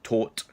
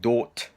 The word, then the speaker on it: thought: this word I had taught mainly taught I have fought I had thought I had fall I had all sorts so I want to make sure that you have a clear understanding of the pronunciation of this verb so the important thing to remember is that you have the the sound and in many languages it doesn't exist so you have to learn how to create this sound